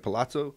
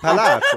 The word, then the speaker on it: Palazzo: We're staying at the Palazzo. Yeah, so that was really nice. So, and then that's not how you say it. Come on, the Venetian Palazzo.